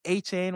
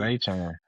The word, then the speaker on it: Etienne: They lost Travis Etienne or H-Chain, whatever, however you pronounce bro's name. He said A-Chain. H-Chain? Okay. Yeah, he So said they lost. A-Chain. That's what he said.